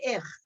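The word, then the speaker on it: איך: So the word ich, which means I, starts with this silent aleph. All you sound is the yud and the chai at the end of it.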